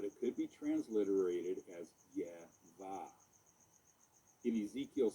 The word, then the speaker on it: Yahvah: Another form of this name is found in Genesis 3:14, where it is written with these vowels, which provide the pronunciation Yahvah.